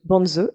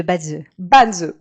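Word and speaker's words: Bazi: Et parmi les autres outils que tu explores aujourd'hui, il y a aussi le Banzi, c'est comme ça qu'on prononce ? On dit le Badze.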